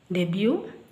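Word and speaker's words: debut: ಟಿ ಬಂದಾಗ ಇವುಗಳನ್ನ ಉಚ್ಚರಿಸುದಿಲ್ಲ ಇಲ್ಲಿ ಮೂರು ಕಡೆ ಇದೆ ನೋಡಿ ಇದು ಬ್ಯಾಲೆ ಬ್ಯಾಲೆಟ್ ಅಲ್ಲ ballet ಡೆಬ್ಯೂ crochet ballet ಡೆಬ್ಯೂ crochet ಇಲ್ಲಿ ಕೊನೆಯಲ್ಲಿ ಇದೆ ಸೈಲೆಂಟ್ ಆಗುತ್ತೆ ಟಿಸಿಎಚ್ ಪದಗಳಲ್ಲಿ ಒಂದು ಪದ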